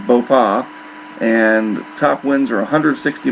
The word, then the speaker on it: Bopha: typhoon a super typhoon I believe you pronounce it boa the pH is silent so there's no F sound it's just boa and top winds are